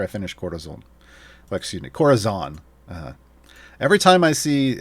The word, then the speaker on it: Corazon: see uh this champion i want to pronounce their name uh with this with the space just it screams spanish but that's not how the player pronounces their name so quarters on all right uh basic